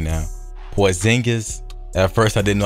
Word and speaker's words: Porzingis: And if you've seen my previous video, I showed the ratings for, I know how to pronounce his name now, Porzingis.